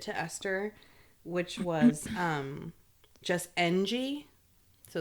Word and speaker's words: Ng: And her Twitter handle says like, it's pronounced Ng. and it's NG.